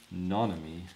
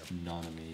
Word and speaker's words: Nanami: I feel like I'm saying his fucking name wrong. Nonami. Yeah. Nonami.